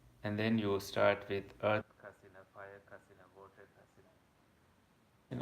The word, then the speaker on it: kasiṇa: So Kasina is Kasina. Not, it sounds like CA, but it's KASINA. Is how it's spelled.